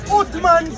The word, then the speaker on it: Uthman: We have today, everybody listen, we have Uthman, that's how you pronounce his Quran.